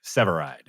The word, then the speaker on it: Severeid: for you can I try yeah um uh seade SE SE C it's actually lur no uh seide seide yeah yeah uh thanks for having